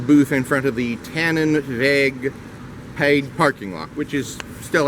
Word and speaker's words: Tannenweg: Actually, it's the booth in front of the Tannenweg paid parking lot, which still has quite a bit of parking. And that's Tannenweg as in W-E-G. The W is pronounced as a V.